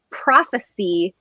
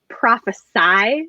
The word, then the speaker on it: prophecy: looks similar but like one pronunciation is the noun and one pronunciation is the verb and people get it wrong all the time so like prophecy is a noun prophesy is a verb and